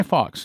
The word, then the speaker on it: Fawkes: spell it to you guy fox is the name of a person spelling last name f-a-w-k-e-s not f-o-x but f-a-w